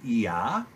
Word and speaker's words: Yah: The construct of the first two letters is one that is common in modern Hebrew, where the Yod is pronounced E, with the vowel He being pronounced A, creating Yah, which we have captured as Yah.